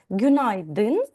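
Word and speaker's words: günaydın: І в цьому слові подвійний наголос вимовляється ніби на гюн, да, падає наголос і на айдин, на и гюнайдин. Подвійний наголос в цьому слові.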